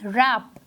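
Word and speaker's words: wrap: Next word is रैप। रैप जो है वो हमें प्रोनाउंस में जब हम कर रहे हैं तो वो आर से स्टार्ट हो रहा है, लेकिन इसमें डब्ल्यू जो है वो साइलेंट लेटर है।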